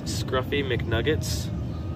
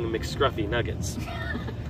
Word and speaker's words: Scruffy McNuggets: It's Scruffy McNuggets. Yeah. And yeah. I was saying McScruffy Nuggets.